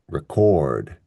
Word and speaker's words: record: So for the verb, we stress the second syllable. We say record, record.